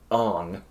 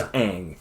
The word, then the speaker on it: Aang: First off, his name was Ong. His name was Aang. His name is Aang.